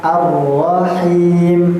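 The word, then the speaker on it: الرحيم: Ruhma rahima arrahim.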